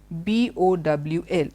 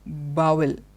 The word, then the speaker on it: bowl: by the spelling but actually it is not pronounced dangu it is dengue okay the next one bo WL it's a bathroom and that's what we it's not bowel bowel it's not Bowl it is bowl bowl